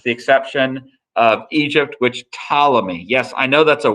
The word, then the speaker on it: Ptolemy: exception of egypt which ptolemy yes i know that's a weird looking name it's ptolemy the p is silent kind of like pterodactyl so this is what